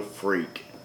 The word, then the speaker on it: Phreak: build the 3 inch silo freak that's spelled pH as opposed to F this frame can be